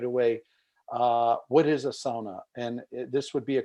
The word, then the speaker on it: sauna: I mean, in Finnish, we say sauna. In a lot of international circles, people say sauna.